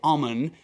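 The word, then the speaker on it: ОМОН: riot police the so-called alman in the cirillic alphabet the h there at the end is pronounced as an n and indeed in a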